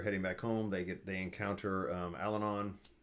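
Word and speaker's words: Allanon: They encounter Alanon, Alanin, how I always said it, and we're off.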